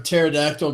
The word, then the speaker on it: pterodactyl: can't you hear a pterodactyl go to the bathroom the p is silent like that one a